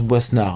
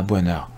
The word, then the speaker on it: Boisnard: On nous explique aussi que, et apparemment c'est très important, Wendy Boisnard, ça se prononce Boisnard, hein, pas Boinard, ça c'est pas très